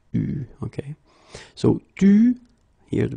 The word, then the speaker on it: eu: Okay, you write it like that, but you pronounce it eu. Okay. So, tu, here the participe passé, eu, and then plus.